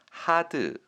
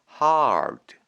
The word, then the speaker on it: hard: 하드 아니고요. 아니고 hard 하 뒤에 리을 받침이 따로 오는 형태입니다. R은 최대한 혀를 굴려 주시는 느낌으로 발음하시면 되겠습니다.